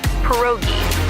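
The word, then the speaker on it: pierogi: It's pronounced perogi. A tasty dish like dumplings.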